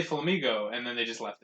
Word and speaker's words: Flamigo: the uh wonderfully named flamigo and no I didn't mispronounce Flamingo they just just dropped an end and called it Flamingo this is a typo